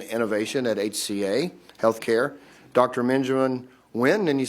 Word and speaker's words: Benjamin Nguyen: Benjamin Nguyen, and you said that was a proper pronunciation of your name, Senior Product Manager, Transcarent.